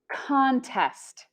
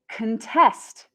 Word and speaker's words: contest: some more examples here we have the noun contest contest contest is another word for competition next we have the verb contest contest and contest means to oppose or to